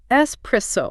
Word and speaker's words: espresso: So it's espresso, not espresso. Got it. Any tips for avoiding that extra X sound? I would say like think of the word express without the X.